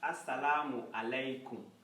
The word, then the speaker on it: Assalamu alaikum: We pronounce this as Assalamu alaikum.